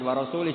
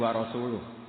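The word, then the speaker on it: وَرَسُولُهُ: Allah itu terbebas enggak urusan dengan orang musyrik wa rasulih juga enggak ngurus rasulnya. "Kalau sama rasul saja enggak ngurus apalagi sama kita." Sama Sayyidina Ali dibenarkan yang benar bacanya itu wa rasuluhu, Allah bari'un minal musyrikin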